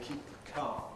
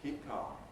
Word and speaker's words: keep calm: So we say keep calm. Keep. You can't hear really. We don't say keep calm. We can do, but it's special careful pronunciation. Normally, keep calm.